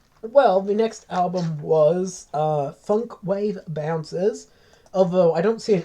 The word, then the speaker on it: Funk Wav Bounces: Is it funk wave bounces or funk wow bounces? Wave. Okay, even though there's no silent E at that.